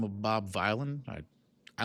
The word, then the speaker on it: Vylan: And so somebody by the name of Bob Violin, I like to say it's spelled vy ln.